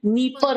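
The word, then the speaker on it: Dnieper: नीस्टर हो गई, और आपकी नीपर हो गई, यहाँ पे डी साइलेंट है, ठीक है।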